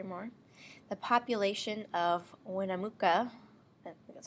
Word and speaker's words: Winnemucca: The population of Winnemucca, that's how you say it, Nevada, can be modeled by this equation, where T is the number of years since 1990.